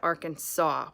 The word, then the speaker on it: Arkansas: r kansas it doesn't you don't pronounce it kansas at the end you pronounce it arkansas which makes it really